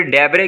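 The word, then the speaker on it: debris: फिर डेबरे कहते हैं जी मलबा को, इसके अंदर एस आपने साइलेंट करना है।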